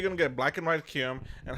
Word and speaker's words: Kyurem: How do you pronounce his name, by the way? Kyurem or Kyurem? Kyurem. Kyurem, okay, so the same as me, okay.